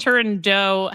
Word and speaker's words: Turandot: Turando has become the most accepted pronunciation of yes the opera